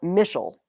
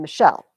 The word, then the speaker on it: Michelle: I'm not Michelle. I'm Michelle. My second syllable is stressed.